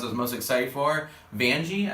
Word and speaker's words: Vanjie: Vanjie, I think is like it's like rhymes with Banji.